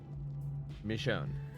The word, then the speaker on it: Michonne: Michonne. So it's like Michonne. Correct the first time. Michonne.